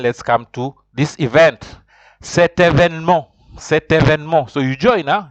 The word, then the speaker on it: cet événement: Cet événement.